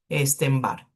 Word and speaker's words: Epstein-Barr: Miren cómo se escribe para que después no digan que es como Einstein, Epstein-Barr.